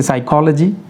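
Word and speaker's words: psychology: कोई भी वर्ड अगर पी इस अल्फ़ाबेट से स्टार्ट होता हो और उसके बाद में एस आए फ़ौरन बाद, यानी वर्ड स्टार्ट होना चाहिए पी से और उसके बाद अगर आता है एस, तो हम लोगों ने पी को साइलेंट कर देना है।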